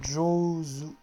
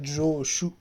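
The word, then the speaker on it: 上手: Là, par exemple, si vous le mettez avec ce kanji-là, ça se prononce Jozu. Jozu. Hein, c'est pas Joshu, attention.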